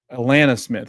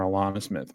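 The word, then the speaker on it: Alanna Smith: Um, I think they call I I think it's pronounced Atlanta call or Atlanta Smith, right? Yeah, Atlanta Smith. There's my pronunciation guy. Atlanta Smith. I was calling her Alana Smith, but is she Australian?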